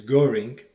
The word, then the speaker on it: Göring: In Britain and America, chess players deliberately pronounce his name as Göring to distance it from Hermann Göring.